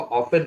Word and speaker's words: often: T silent, LISTEN Liston ना हो क्या होगा लिसन, लिसन मैंने सुनना, OFTEN ऑफ्टन ना हो क्या होगा ऑफन, ऑफन मैंने अक्सर, CATCH कैच मैंने ना हो क्या होगा कैच, कैच मैंने पकड़ना।